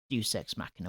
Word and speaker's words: Deus Ex Machina: Deus Ex Machina.